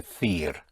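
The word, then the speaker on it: decir: or to tell is the seir spelled d e c i r the seir In Madrid you will say the fear is for the th sound.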